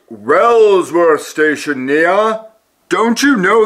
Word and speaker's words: Wellsworth: Here we are at Wheelsworth Station. Oh, it's pronounced Wellsworth Station, Nia.